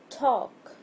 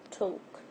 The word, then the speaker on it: talk: Talk. The silent letter is L. And this is how it's pronounced. Talk. And also British people pronounce it toke.